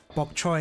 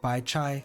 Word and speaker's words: bok choy: to kill me essentially bok choy instead of by chai ah is bok choy a Cantonese pronunciation I didn't even know